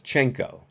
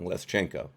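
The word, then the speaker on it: Leshchenko: guilty so it's less less changko I pronounced that wrong leschenko manafort denied receiving any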